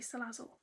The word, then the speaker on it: Salazzle: what I've done Salle I've checked the pronunciation I Googled it it's definitely salazzle has a tail nice